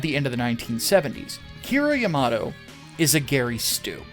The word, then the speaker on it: Kira Yamato: back in the day always called him kiriyamato the most recent calls him kira yamato which is probably the correct pronunciation so excuse me if